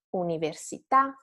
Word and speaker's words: università: and stay flat and then rise at the end. So caffè, città, università, tiramisù. This is just a matter of intonation.